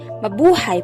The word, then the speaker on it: mabuhay: visitor experience from ecotourism next is the word mabuhay this became a well-known greeting in the philippines as a way of welcoming foreigners in the country mabuhay pronounced as ma hu hai is a tagalog word